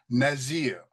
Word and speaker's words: nazir: We have the sadic and it's the sadic that gives us that pronunciation of natsare and the zed up here for nazerite gives us the pronunciation nazir.